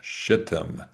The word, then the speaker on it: Shittim: I think I pronounced that correctly. And I insist that's the correct pronunciation. Shittim.